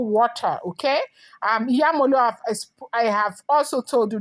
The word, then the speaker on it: Iyemolu: Now, you may not understand maybe my pronunciation. It is called Iyemolu water, okay? Iyemolu, I have also told you that history is